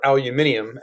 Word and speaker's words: aluminium: Permanent magnets are composed of aluminum, or aluminium, as the British say, cobalt, and nickel.